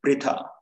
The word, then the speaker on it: Pritha: This is pronounced as Pritha.